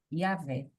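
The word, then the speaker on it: Yahweh: E aí ele fala sobre Yahé, né, nesse vocal e inclusive ele fala que a pronúncia do J não existe, então o correto seria Yahvé.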